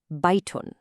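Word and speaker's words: بَيْتٌ: Do you hear that clear in sound at the end of both of those words? Kitabun, baytun. That un sound is the tanween doing its job.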